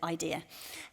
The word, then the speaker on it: AIDIA: It's hard to pronounce if you think about it, but actually it's just very simple. What a good idea. You pronounce it AIDIA.